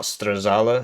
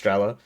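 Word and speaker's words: Strela: also been informed that this is just pronounced strella or is it shilka it's not stala it's just strella I'm just going to keep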